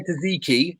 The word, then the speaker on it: tzatziki: If I say tzatziki, is that how you pronounce it? Tzatziki. Tzatziki, yes. Tzatziki.